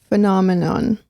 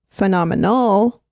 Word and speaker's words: phenomenon: There is an N at the end. An N? Yeah. Not an So it's phenomenon. Phenomenon. But then there's phenomenal.